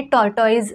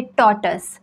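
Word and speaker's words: tortoise: word आहे टॉर्टॉइज तर याचं प्रोन्सिएशन जे आहे ना हे टॉर्टॉइज नाही आहे आय नो थोडसं ऐकायला शॉकिंग आहे बट दॅट्स द फॅक्ट हे ट्रुथ आहे याचं प्रोन्सिएशन आहे टोटस टोटस तुम्हाला हवं असेल तर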